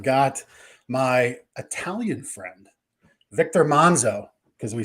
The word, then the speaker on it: Manzo: my Italian friend Victor Manzo because we said the pre-show well how do we say your name is it Manzo Manzo he says if you're Italian you say it monzo so if I say